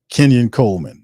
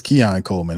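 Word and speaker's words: Keon Coleman: late getting there yeah Kenyan Coleman all right Kenyan Coleman is that it it's Kean Coleman is sometimes I butcher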